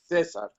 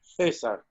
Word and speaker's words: César: It's César, right? The pronunciation of the name? César. César. Unless you're in Spain, which is César.